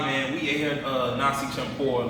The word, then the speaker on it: campur: Campur. That's how you say it. Champur.